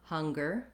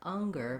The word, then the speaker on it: hunger: you have trouble with the H sound just make sure you have enough air flowing so it doesn't sound like anger but rather hunger you